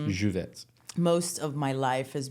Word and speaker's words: Lluvet: you for having me I had to check the pronunciation on that cuz it's spelled LL u v t so I wanted to say louette but it's juvet most of my life